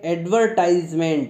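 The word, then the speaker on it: advertisement: birthday एडवर्टाइजमेंट ठीक है इसको क्या पढ़ते एडवर्टाइजमेंट इसका आकार का उच्चारण बड़े अच्छे से पूरा आटा उच्चारण करते हैं लेकिन इसमें आर का उच्चारण आपको बहुत ही मतलब ना के बराबर इस मिश्रण होता है रखिए आवाज ही नहीं आ रही है ठीक है तो इस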